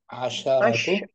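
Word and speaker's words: عشرة: Nah, kalau ma'dudnya muzakkar, angka shinnya 10 shinnya itu di fathah. Asya. Asyaratu. Asyaratu gitu bacanya. Asyaratu. Kalau ma'dudnya Kalau mu'annas, asyara. shinnya disukun asyru. Asyru. Asyru. Nah gitu. Asyru. Shinnya mati sukun ya.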